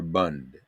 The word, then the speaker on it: Bund: It actually was an organization, the Jewish Labor Bund, BUND, and that, I may be giving it a Yiddish pronunciation because Yiddish was their language of choice Right.